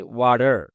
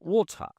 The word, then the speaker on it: water: আমেরিকানরা বলে ওয়াটার, আমরা জানি এটা, যারা আমেরিকান থাকেন তারা অবশ্যই বুঝবেন। ওয়াটার মানে এই টি এর উচ্চারণটা ড এর মতো হবে।